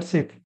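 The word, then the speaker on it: chef: এইবার নেক্সট প্রশ্ন knife সেফ brass কি নাইফ মানে ছুরি সেফ মানে হচ্ছে যিনি রান্নাবান্না করেন তাকে সেফ বলে মাস্টার সেফি কিন্তু এটা উচ্চারণ করব আমরা সেফ ব্রাস দিয়ে কি করা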